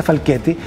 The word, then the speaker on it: Falchetti: Se escribe Falchetti, pero se pronuncia Falchetti.